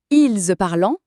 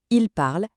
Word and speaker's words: parle: Mais et écoutez bien, cette terminaison est toujours muette. On ne la prononce jamais.